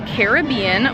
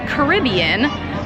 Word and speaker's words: Caribbean: the different dialect there so in fact it is not right if you say Caribbean it is correct if you say Caribbean because they are the Caribes not The Cribs I